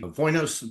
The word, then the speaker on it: Dvoinos: you for having me silent D spelled with the D but uh you don't have to say anything anything about the D and you are originally